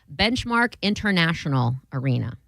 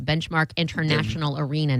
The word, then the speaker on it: Benchmark International Arena: It will now be called Benchmark International Arena.